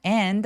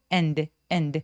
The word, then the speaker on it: end: By the end 할 때 얘가 and 길지 않아요. and 아니고 end.